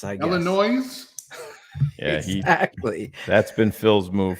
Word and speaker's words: Illinois: up bro I'm not from Illinois with a silent S I guess Illinois exactly that's been Phil's